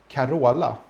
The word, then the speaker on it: Carola: In Sweden, we basically just say Carola.